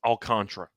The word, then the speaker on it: Alcantara: By the way, memorabilia, it is pronounced Alcantara. Yeah, we looked it up. It's pronounced Alcantara. This has been a deal. It was pronounced Alcantara for the first two seasons by us. Yeah. But we finally looked it up, and we're idiots.